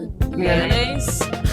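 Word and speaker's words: Lyonnais: I want to always say it like Lyonais. Olympique. Lyonais. You're right. And I love mayonnaise, so it's good.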